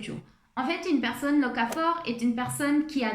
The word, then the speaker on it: locavore: En fait, ça se prononce locavore et pas locafort. Je me suis trompée.